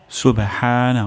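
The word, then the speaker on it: سُبْحَانَ: আলা সুবহানা রব্বিয়াল আলা এখানে প্রথম শব্দটি হলো সুবে সুবে সিন সুস্পষ্ট উচ্চারণ করতে হবে হবে আর শেষের দিকে সুবে এটি জাম্প করবে শব্দটি সুবে সুবে হানা হা গলার মাঝখান থেকে উচ্চারণ হবে সুবহানা সুবহানা রব্বিয়াল রব্বিয়াল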